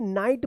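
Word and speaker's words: knight: टी इसको क्या पढ़ेंगे नाइट पढ़ेंगे तो यहां पे क्या रूल्स था कि एन से पहले अगर के आता है तो क्या के क्या रहेगा ये साइलेंट रहेगा नाइट क्या है के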